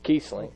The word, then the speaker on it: Kiesling: And this is Kiesling, is that how you pronounce his name? Yes, Kiesling.